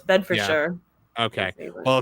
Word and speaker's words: Bedfordshire: It is in Bedfordshire, which I think is maybe pronounced Bedfordshire. No, it's Bedfordshire.